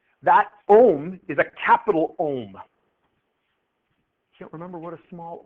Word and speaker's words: ohm: what's the unit no it's pronounced ohm not um but that was pretty